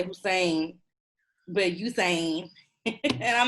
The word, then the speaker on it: Usain: I think you say his name, Usain Bolt, yeah. Bolt, yeah. I knew that's where we were going. I always say Hussein, and it's because I just feel like the U deserves the H in front of it.